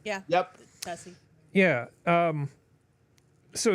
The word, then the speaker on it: tusi: Am I pronouncing that correctly? Yeah. Yep. Tessie.